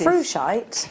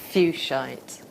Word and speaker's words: fuchsite: Frushite. Fuchsite. Fuchsite, like fuchsia. Yeah. Look at the edges. It is properly pronounced the way that we think we shouldn't say it, but...